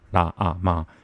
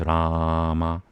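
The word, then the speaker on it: राम: It's connected, so it's not ra ah ma. It's Rama.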